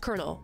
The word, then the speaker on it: colonel: is it spelled like that if if it's pronounced Colonel why is it not colonal America explain because